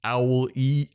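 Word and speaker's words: Aulë: read the whole fact that it was just talking about the beginning of the name that it's owl e ali it's not so when i read that i thought it was literally saying to pronounce ali's whole name it's just owl and i like threw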